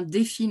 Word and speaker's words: Define: suspense tout de suite c'est bien défine en fait que ça se prononce c'est juste en souvenir